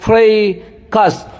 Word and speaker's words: fracas: फ, ये फ जो है फ्रेकस, EIAE पढ़ेंगे फ्रे, और ऊपर में देखिए यहाँ पे बिंदी है जिसका मतलब रुकना पड़ेगा।